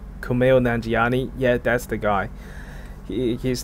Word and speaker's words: Kumail Nanjiani: movie is Kumail Nanjiani a mic am i pronouncing this right Kumail Nanjiani yeah that's the guy he's the guy from